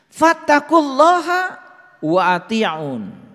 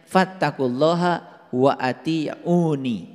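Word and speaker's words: فَاتَّقُوا اللَّهَ وَأَطِيعُونِ: Fattaqullaha wa ati'un. Nah ini sebetulnya dibacanya harusnya fattaqullaha wa ati'uni.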